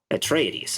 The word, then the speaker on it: Atreides: go a tradis a traitor that's how you pronounce it a tr a treadies atreides okay there you go if it's greek if